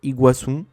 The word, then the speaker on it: Iguaçu: Même principe avec Iguaçu, le nom d'une cascade entre l'Argentine et le Brésil, qui est accentué sur le U au lieu du A.